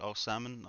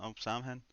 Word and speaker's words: Osimhen: I know you say his name is like O'Samhen, Osimhen Oh, or Simon. Osimhen.